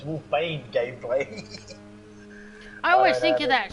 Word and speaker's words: Wolfbane Gameplay: There's Wolfbane Gameplay. It took me ages to be able to say his name properly because I used to always call him Wolfgame Baneplay. But it's Wolfbane Gameplay.